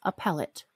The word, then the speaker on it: appellate: I pronounce it the Appellate Court no it's a pellet appellate court so she applied for